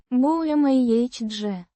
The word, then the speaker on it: бумаге: bumage. With the stress on the second syllable.